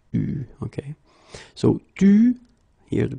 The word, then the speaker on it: eu: Il a eu, okay, you write it like that, but you pronounce it eu, okay.